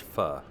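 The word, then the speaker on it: pho: know it looks like Phu but it's actually pronounced fuh fuh being a Vietnamese soup there's another Vietnamese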